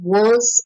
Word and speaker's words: were: was and the word you don't pronounce the R so it's Wars and were was were